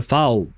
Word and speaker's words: foul: It's just because for me, F O U L in my mind, I technically pronounce it fool, even though it it means nothing in French, but it's just that the O in French, we pronounce it oo. that that's how we make the sound oo because u on